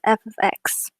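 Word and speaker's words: f(x): do I pronounce that you pronounce it as f ofx oh thank goodness oh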